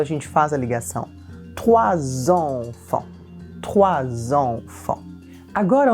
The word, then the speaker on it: trois: O 3, o R, não sai da língua, o R vem da garganta. Trois, trois. A gente sente na garganta a vibração. O OI, em francês a gente diz OA, e o S não é pronunciado, então a gente vai dizer trois.